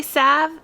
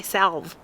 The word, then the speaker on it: salve: calendula some people say sav and some people say salve i don't care how you say it but i'm going to say sav for the video but what you want